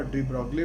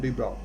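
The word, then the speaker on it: de Broglie: 1924 was the year of the greatest milestone, जहाँ की एक डी ब्रॉक साइंटिस्ट जो कि पैदा हुआ, जिसका डी ब्रॉगली बोलते हैं, एग्जैक्ट प्रोनाउंसिएशन है डी ब्रॉक।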